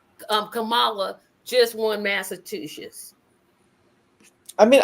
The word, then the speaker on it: Kamala: Michael and Robin and Henry Elizabeth War um Camala here or kamla because they get so angry of how her name is pronounced um Kamala just won Massachusetts I mean I I do